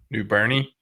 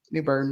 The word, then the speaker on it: New Bern: of North Carolina specifically Newber which was then had spelled with a e at the end new Bernie well it's like my friend her last name is green and it has a e on the in right New Burn new green or green